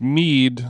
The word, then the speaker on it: Mead: His name is pronounced Mead, like weed, after his Icelandic grandfather. Okay. Well, that's better than mid.